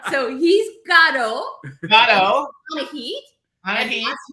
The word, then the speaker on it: Anahit: Anahit. Anahit. Last name is pronounced Sedian.